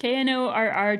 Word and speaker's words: Knorr: And that's Knorr spelled with a K. Yep, Knorr, just like the soup mix.